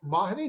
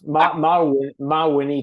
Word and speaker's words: Mawhinney: podcast and today I am here with Mahoney didn't mark did I just pronounce that right is it mahini is that that's pretty good for a first run through yeah it's close enough my Winnie technically I always say it's like mod and